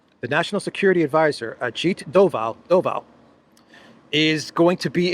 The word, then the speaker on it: Doval: I want to say his name is Goval. The national security adviser Ajit Doval Doval is going to be in Russia this week.